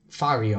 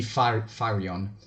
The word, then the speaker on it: Firion: faryon to hear you fire you uh yes he's totally afraid it's supposed to be firion yeah okay uh Flareon